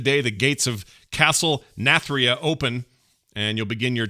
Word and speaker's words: Nathria: the order castle natheria am i saying it right nathra not there nath nathria there you go ask your doctor if